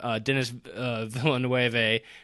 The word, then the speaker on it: Denis Villeneuve: Denis Villeneuve, which I believe is how you pronounce his name, is a fantastic director.